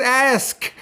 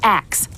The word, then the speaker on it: ask: The word is ask, and there's no accepted exclusion due to upbringing. Like when you say ask instead of ax.